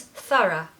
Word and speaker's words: thorough: ra Thora Sarah okay speed it up it becomes thorough thorough the stress is on the first syllable and we need to have a schwa on the end so it's just ra Sara now this means to